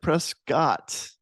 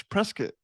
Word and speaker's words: Prescott: I kept calling it Prescott because I am a Cowboys fan and it's spelled like Dak, but it's Prescott, Arizona. You can correct me if I'm wrong.